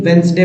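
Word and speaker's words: Wednesday: पढ़ रहे हैं तो वेनसडे का डी यहां पर जो लिखा हुआ है स्पेलिंग इसमें डी साइलेंट है इसीलिए वेनसडे पढ़ा जाता है वेनसडे अब देखिए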